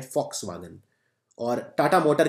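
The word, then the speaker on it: Volkswagen: ये कंपनी है वॉक्सवागन, इसे वैसे प्रोनाउंस करते हैं फॉक्सवागन।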